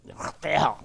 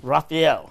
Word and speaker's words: Raphael: And Raphael stems from Germany. If you say it correctly, you got to spit. Raphael. Okay. So can you say it correctly for me? Raphael.